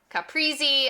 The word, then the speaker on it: caprese: This salad name often gets mispronounced as caprese, caprese, caprese.